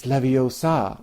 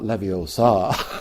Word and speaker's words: Leviosa: to do it and Hermione says it's levosa not Leviosa all right you do it